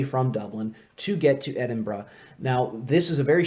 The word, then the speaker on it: Edinburgh: entire summer now no it's pronounced with the scottish burr is pronounced not bird if you go around saying edinburgh you're going to sound weird so don't do that edinburgh you can roll your